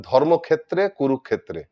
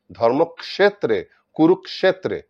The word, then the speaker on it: ক্ষেত্রে: কে ধৃতরাষ্ট্র যেটা বলছেন বাঙালিরা বলেন ধর্মক্ষেত্রে কুরুক্ষেত্রে একচুয়াল উচ্চারণ হচ্ছে ধর্মক্ষেত্রে কুরুক্ষেত্রে মানে এটাকে ক্ষেত্র না বলে ক্ষেত্র ক একটা হালকা এসে তারপর মধ্যনস আসবে ক্ষেত্র যতদূর সম্ভব বারবার